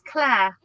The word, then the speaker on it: Clary: it's Claire. Oh, oh, okay. Okay, there is no E at the.